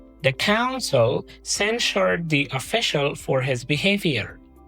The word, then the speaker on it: censure: The second word is: censure Censure means: to strongly criticize someone or say clearly that something is wrong. Simple meaning: It means to strongly say “this is wrong”. Pronunciation: /ˈsen.ʃɚ/ SEN-sher Word form: It can